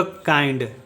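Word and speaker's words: kind: का उच्चारण करते हैं, तो ये हो जाएगा काइंड। उसी तरह से एम का उच्चारण होगा म, आई का उच्चारण होगा आ ई, माई।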